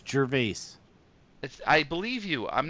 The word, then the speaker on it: Gervais: That's His last name is called Gervais, not Wait, who's Jarvis.